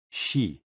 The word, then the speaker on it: xi: And XI, pronounced like shi, which connects the whole body.